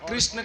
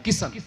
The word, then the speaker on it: कृष्ण: बहुत से लोग तो 'कृष्ण' शब्द का उच्चारण भी नहीं कर पाते। अगर आप राजस्थान जाएंगे तो आपको पता चलेगा कि वहां कोई भी आसानी से 'कृष्ण' शब्द नहीं बोल पाता। वे कहते हैं 'किशन, किशन, किशन'।